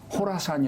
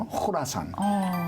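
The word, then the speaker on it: 호라산: 계속해 이라고 하는 말은 코라 사안 이라고 번역이 되었는데 정확한 발음은 호라 선 개선을 코라 상사 코르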